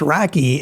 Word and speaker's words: RoCE: The acronym is pronounced Rocky and Rocky uses Ethernet hardware with Infiniban messaging.